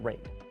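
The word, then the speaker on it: RAID: all those letters and yes I know it's pronounced rate so there you have it the predator Triton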